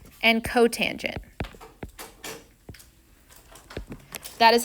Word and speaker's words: cotangent: this that is cosecant don't say SEC this is secant it has a name don't say cot that is cotangent it's pet peeve of